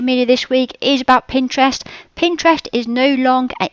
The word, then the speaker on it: Pinterest: keep hearing it that it's pronounced Pinterest a bit like interest but it's p with a p Pinterest not pinin I don't know how many people that say oh are you on pin pter and it just sounds